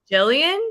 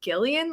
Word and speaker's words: Gillian: that too like I used to think Julian Jillian like when I first read it because that's how I've heard that name pronounced I was like oh it's Gillian like okay so but still people don't all